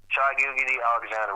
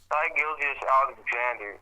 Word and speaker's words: Shai Gilgeous-Alexander: See, I'm not even pronouncing his first name right. Oh my God, his name is just giving me aneurysm. Shai Gilgeous-Alexander.